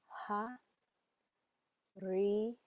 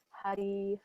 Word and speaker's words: Hari: It's a little roll of a tongue, so if you hear me singing it, it might sound like D-I, but it's R-I, and you can pronounce it either way. Hari or Hari, Hari, Om.